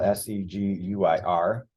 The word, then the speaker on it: seguir: But a verb like seguir, which is spelled S-E-G-U-I-R, it does end in U-I-R, but we don't pronounce the U.